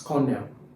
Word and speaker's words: colonel: Now, you see it looks like colonial, but you don't pronounce it as colonel. It's cornell.